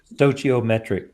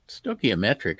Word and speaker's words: stoichiometric: efficiency of the engine dociometric kind of stuff I don't even know if I pronounced that right you didn't I didn't I hate that word I never I never pronounce it right and it's even worse when I see it written it's like there are way too many letters it's just too long of a word it's stoichiometric is a lot easier